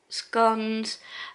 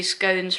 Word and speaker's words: scones: this gift little cakes scones and how I normally say it but obviously scones rhymes with thrones so but I normally say scones and so different ways